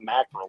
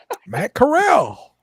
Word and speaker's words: Corral: when he said it, I thought like the pronunciation was wrong. It was mackerel or something. Yeah, it's what it sounded like mackerel, like he was adding an extra syllable to mackerel. Matt Corral.